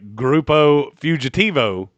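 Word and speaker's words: Grupo Fugitivo: Uh, by the way, groupupo fugitivo is the correct pronunciation of fugitive group in Spanish.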